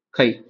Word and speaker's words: chi: கைங்கிறது ஒரு Greek letter. கை சிஹெச்ஐ கை pronounce பண்றோம்.